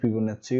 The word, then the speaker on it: Fibonacci: আজকের ক্লাসে আমরা শিখব চ্যাপ্টার 1 ম্যাথমেটিক্যাল রিজনিং অর্থাৎ গাণিতিক যুক্তি বিচারের ফিবোনাক্সি সিরিজ। এটাকে ফিবোনাচ্চি উচ্চারণ করা যায়।